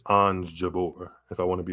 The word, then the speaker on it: Jabeur: I like making sure people's names are correctly pronounced but I know it's on Jabor if I want to be a little fancy